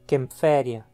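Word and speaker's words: Kaempferia: Empréstimos de línguas que usem A com trema ou a ligadura AE, principalmente as línguas germânicas, são adaptadas com as letras A e E e pronunciadas como um E também. Um exemplo é o sobrenome alemão Kämpfer, de onde deriva o nome genérico Kempferia.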